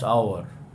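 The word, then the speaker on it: hour: ঠিক একইভাবে আরও কয়েকটা যদি উদাহরণ চাও, দেখো ড্যাশ আওয়ার, দেখো এইচ এর সাউন্ড হচ্ছে না, ড্যাশ আওয়ার, দেখো, বুঝতে পারলে, অ্যান আওয়ার। তো এইচটা কিন্তু এইভাবে সাইলেন্ট হয়ে আছে।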